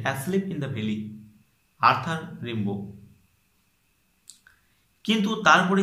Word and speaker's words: Rimbaud: সেটা ঠিক আছে কি রিম্বো। আর এখানে যে লাস্টে ডি আছে, ডিটার উচ্চারণ হয় না, রিম বো, BAU বো, ডিটার উচ্চারণ উচ্চ থাকবে।